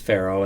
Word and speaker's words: Faro: didn't yeah I think it's pronounced Faro and arrow Oh our casinos in